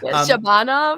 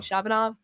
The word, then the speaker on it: Shabanov: Shabbanov, I I believe is how he pronounces it correctly. I'm still learning Shabbat. Same because everyone was saying Shabanov. Yeah. But I think it's Shabbanov.